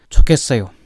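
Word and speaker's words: 좋겠어요: अब यसमा के बुझ्नुपर्ने रहेछ भन्दाखेरि, अब ह प्लस ग आयो उतापट्टि, ग प्लस ह आए पनि सेम उच्चारण, ह प्लस ग आए पनि सेम उच्चारण, भन्नाले ख उच्चारण हुन्छ।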